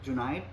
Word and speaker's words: Junayed: Well, my name is Junayed. My name is pronounced like the word denied in June, Junayed.